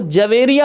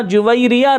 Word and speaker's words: جویریہ: رضی اللہ تعالی عنہا۔ اچھا، عرف عام میں اس لفظ کو جویریہ پڑھا جاتا ہے، لیکن تلفظ کتابوں میں ہم نے یہ پڑھا جویریہ رضی اللہ تعالی عنہا۔